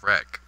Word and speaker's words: Reich: The Reich. He says it's pronounced Reich.